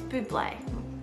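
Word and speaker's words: Bublé: brother likes come here michael bubble but it's buble just just say it properly okay this gives me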